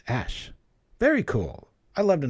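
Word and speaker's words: æ: cool comb oh yeah AE symbol is pronounced ash very cool I love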